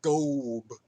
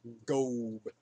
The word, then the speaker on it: Gob: And they go to war at the Philistines again, at some place called Gob, which is spelt exactly how it sounds. Gob.